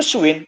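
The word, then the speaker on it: 쉰: 50 itu swin, Mas Adit. Hah? Swin apa swan? Swin. 50 swin apa swan? Swin. Kalimatnya swin ya. S, vokal rangkap U dan I dibaca W tambah dengan yin. Jadi dibacanya swin.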